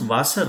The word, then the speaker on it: Wasser: So how do you pronounce Wasser? Na? The same way was.